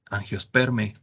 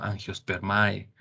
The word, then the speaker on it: Angiospermae: borrosas y otro detalle Recuerden que la pronunciación cuando está el diptongo ae en las palabras de los taxones se pronuncia como e Entonces es el reino planta no plantae es la familia angiosper más angiospermia no angiospermae por ejemplo o otro